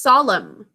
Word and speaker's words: solemn: Number 20 is solemn. Solemn. Remember, we just practiced that one. We think solemn with a silent phonogram at the end.